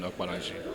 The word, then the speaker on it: Okpanachi: My name is Okpanachi. is spelled as.